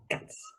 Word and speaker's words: k'aco: It sounds super phonetically reduced to me, like guts. Yeah, it's definitely undergoing some sort of phonetic reduction.